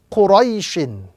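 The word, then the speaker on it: قُرَيْشٍ: So this word will be pronounced quraishin. Quraishin. Again, focus on the ya lean, the ya sakin, before which is the vowel fatha.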